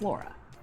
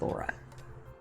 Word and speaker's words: Laura: To me, it's Laura. Yeah, long A, long U, Laura. It's pretty. I like it. It sounds like Laurel, but it's Laura.